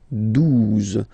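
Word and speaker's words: douze: phonetically, onze, okay, 12, 12, O, U, the two together will give you the sound OO, okay, and then Z, 12, 12, alright.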